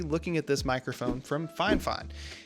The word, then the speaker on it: FiFine: at this microphone from fine fine and yes that's how the name is pronounced that's what the company told me and they did send